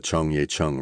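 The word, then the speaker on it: Cheonggyecheon: the top of the Chongya Chun River. That's Chong Ya Chun for phonetically challenged Americans.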